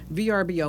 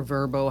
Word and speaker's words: Vrbo: in bathrooms or bedrooms vrbo or verbo however you want to pronounce that they say no indoor